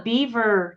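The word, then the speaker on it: Biewer: one there we go it's called a beaver Terrier and it's spelled difference b-i-e-w-e-r oh and they're an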